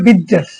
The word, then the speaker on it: pizzas: Some foods such as burgers and pizzas, উচ্চারণটা পিৎজাস, dash bad for your health.